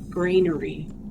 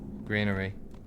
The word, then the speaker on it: granary: It's a grainery. Greenery cuz it stored grain.